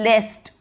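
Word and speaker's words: lest: अब इसका प्रोनाउंसिएशन है लेस्ट। एक हमारे पास होता है लिस्ट, ये है लिस्ट, ये है लीस्ट, ये लीस्ट लिस्ट, और ये है लेस्ट।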